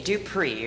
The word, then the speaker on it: Dupree: Dupree with the accent on the E.